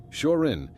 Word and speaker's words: Shorin: Shorin is the Chinese pronunciation of the same characters, and the origin of the name Shorin-ryu is the Shaolin Buddhist temple in China.